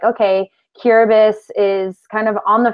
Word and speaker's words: Kiribati: and if you read our proposal, you'll see it's spelled, it looks like Kiribati, but we very quickly learned that it's pronounced Kiribati.